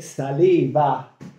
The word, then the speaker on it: Salewa: E quello che vi voglio presentare oggi sono le saliva, pronunciato con la W, si pronuncia con la V, come diceva e come